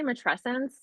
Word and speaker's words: matrescence: little bit about uh mattress since is that how you say it is that proper I I've heard some people say that I say mat tressence but um I think it's like could go either way okay so can you